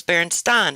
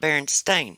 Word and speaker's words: Berenstain: And I remember that's how I decided how I was going to pronounce the Berenstein Bears. Was Berenstein and not Berenstain.